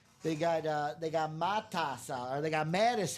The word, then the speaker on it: Matas: have when people say when I hear people in basketball go, "Ah, yeah, Mattis." It's like, "No, it's Matas."